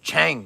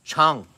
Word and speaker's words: Chang: is it pran i i pronounce it chang like chang right but i think i think it's pronounced chung right in in thai language i think it's like chung chung beer it looks so